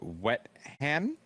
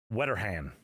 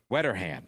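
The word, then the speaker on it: Wetterhahn: So, uh, the woman's name, and I am going to probably abort the last name, but it's Karen Wetan. Wetteran. Wetteran.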